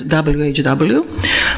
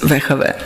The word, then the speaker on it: WHW: an in abbreviated form we don't pronounce it as whw but in a kind of a hybrid in cretian way as veave so when I say veave I mean the name